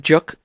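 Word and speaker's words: 粥: How do you pronounce that again? Juk.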